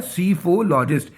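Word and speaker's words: psephologist: कौन होता है? सीफोलॉजिस्ट, पी साइलेंट होता है इसमें।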